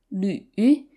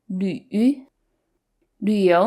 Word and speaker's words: 旅: With the umlaut on top and with the third tone, this combination is 旅旅. You have to push your lips close together and forward. 旅游 means to travel for fun.